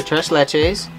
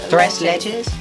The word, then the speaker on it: tres leches: do you say it tres leches thresh ledges yeah thresh today where's the h today yeah where's the h there's no h it's t-r-e-a yeah i'm